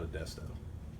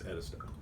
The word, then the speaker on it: Edisto: Carolina as a child, it's not Modesto, it's Edisto.